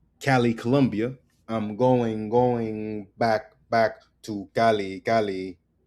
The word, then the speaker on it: Cali: I'm going back to Cali, Cali. It's pronounced Cali, Cali, Cali.